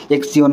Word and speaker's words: Xion: যত বেশি অ্যামাউন্ট এখানে জিওন এখানে জিওন বলেন অনেকে এক্স জিওন বলে এক্স আয়ন বলে যাই হোক একটা উচ্চারণ হলেই হলো তো মূলত এখানে পাঁচটার